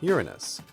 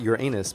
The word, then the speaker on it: Uranus: stupid YouTuber but pronunciation of the name which goes Uranus and most scientists in public life Uranus. do use this pronunciation. But for me, Uranus is still problematic. Sure, it's better than your anus but it's still urine us.